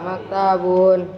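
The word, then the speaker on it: مكتب: Hada maktabun. Hada maktabun. Maktabun. Pendek, jangan panjang.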